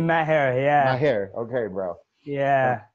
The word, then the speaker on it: Maher: Like, Maher, yeah.